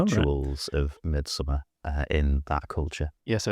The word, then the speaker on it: Midsommar: yeah, like, I'm like, do you say it the way it's spelled? Do I put a little Scandinavian twang on it, or do I just say Midsummer?